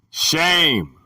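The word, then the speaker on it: שֵׁם: The word is Shem, pronounced shame, a primitive word, perhaps rather from 7760, through the idea of definite and conspicuous position.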